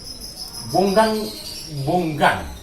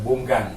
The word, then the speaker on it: bonggan: Bonggang Iya. bukan bonggan kali, abongan. Ada abongan, ada bonggan. Iya. Nah, Ini kan bukan bonggang, tapi bonggan. bonggan kan ya.